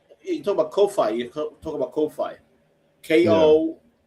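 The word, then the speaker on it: Ko-fi: But the way you spell it is KO dash fi. Like hi-fi but kofi.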